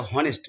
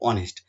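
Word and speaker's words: honest: এটা যদি vowel sound দেয় তাহলে কিন্তু দি উচ্চারণ করব। এইচ ও এনই এসটি এটা হনেস্ট নয়। এটা হলো অনেস্ট।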